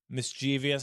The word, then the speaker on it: mischievous: She didn't seem like she would be the kind of like mischievous.